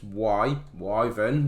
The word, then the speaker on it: Wyvern: Go on, pronounce that right, it's Wyvern, there we go.